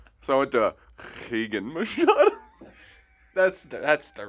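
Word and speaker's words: Rigan: But you pronounce it as a... You could just said H. So I went to Higan Machado.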